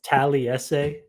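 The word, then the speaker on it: Taliese Fuaga: that man yeah and that's how you say it by the way I know there's a lot of pronunciations I actually got been hearing so much wild stuff on his name fua I know like so it's tally essay and then fuaga so um but yeah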